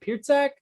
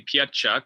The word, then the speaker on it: Pietrzak: Is it Pietrzak? You were closer than most. It's actually Pietrzak, which is ridiculous based on the way it's spelled.